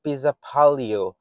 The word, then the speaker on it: Pesäpallo: Pesäpallo. In Finnish pronunciation, Pesäpallo, literally meaning nest ball or Swedish